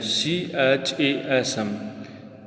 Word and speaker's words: chasm: The pronunciation of this word chasm, C H A S M.